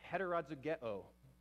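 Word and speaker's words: ἑτεροζυγέω: So this word would be pronounced heterozygeo.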